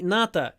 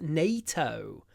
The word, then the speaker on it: NATO: biggest military Alliance actually Nat is one of those words people just say Nat in English no it's not Nat it's NATO NATO uh and we need